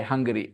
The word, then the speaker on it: Hungary: So both the words are pronounced the same way. Hungary.